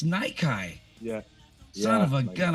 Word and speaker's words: Nyki: Nikki. Nikki. Did I say that right? Yeah. It's actually pronounced Nikai.